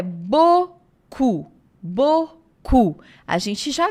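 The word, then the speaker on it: beaucoup: bocu é o muito outra dica de pronúncia aí esse e a u gente escreve um monte de vogal e fala só o É isso mesmo e a u ou a u o som é de o em francês então ó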